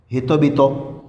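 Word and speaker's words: 人々: लेकिन इसमें जब रिपीट हो रहा होता है तो प्रोनाउंसिएशन में तब्दील करते वक्त ऐसे पढ़ते हैं हितो बितो।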